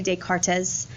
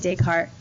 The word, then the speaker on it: Descartes: Okay, so let's talk about Descartes' rule of sign. René Descartes was also a famous philosopher. Please don't say Descartes. The S is silent. It's René Descartes.